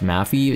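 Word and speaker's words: Maphe: mafia's damage calculator is the spelling is m-a-p-h-e so it's pronounced mafia so mafi it's just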